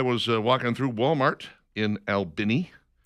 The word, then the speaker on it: Albany: Anyway, uh this is a weird story out of Albini, Georgia. That is the correct pronunciation in case you're wondering.